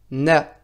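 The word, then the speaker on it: نَ: Le noun avec la fatha s'écrira de cette manière-ci et se prononcera na.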